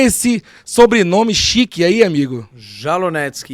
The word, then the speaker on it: Jalonetsky: E a pronúncia? Jalonevski. Jalonetsky. Jalonetsky. Olha aí, ó.